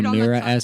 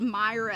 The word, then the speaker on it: Mira: shamelessly you could do mira sr well no one can ever pronounce my name i always get called myra so it's just